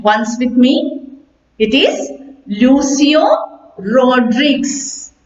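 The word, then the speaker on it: Lucio Rodrigues: in our textbook is written by the writer lucio rodriguez yes you may pronounce that name once with me it is lucio rodriguez right okay use your raw drinks here now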